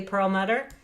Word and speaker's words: Perelmuter: great to be here i hope i pronounced your last name correctly pearl mudder yes very different people in my family pronounce it different ways you hit on one of the pronunciations so no we're not